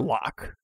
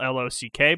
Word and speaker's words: loch: with an o yeah well walk in gaelic is spelled l-o-c-h like yeah or well phonetically like so lock and lake they're they're they're saying lake but with a scottish accent is what we're getting